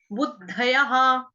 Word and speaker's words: बुद्धयः: बुद्धयः, ब पूरा, छोटा ऊ, दबात वाला या दरवाजे वाला, उसके आगे नीचे पैर में है धनुष वाला ध पूरा, य पूरा, और विसर्ग, विसर्ग का उच्चारण ह।